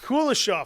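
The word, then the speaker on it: Kuleshov: filmmaker Lev kov you want to try and pronounce leave leave yeah anyway uh kof kulishov thank you see that's you know better and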